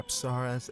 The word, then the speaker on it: Apsaras: or apsaras, as her name is properly pronounced.